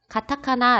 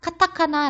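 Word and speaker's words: カタカナ: 라고 말할 수 있어요 자 이 카 라고 원래 발음은 카 지만 가장 앞에 왔을 때는 발음을 쌔게 하지 않고 조금 약하게 하는 경우가 있습니다 그래서 카타카나 라고 발음 하기 보다는 가타카나 라고 발음하는 것이 좀 더 자연스러운 표현 입니다 그리고 세번째는 요 상용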